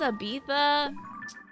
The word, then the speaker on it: Ibiza: Oh, it's pronounced Ibiza.